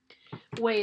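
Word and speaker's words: OUAI: Huey is spelled O-U-A-I.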